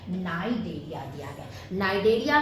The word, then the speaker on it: Cnidaria: नाइडेरिया में सी क्या है, साइलेंट।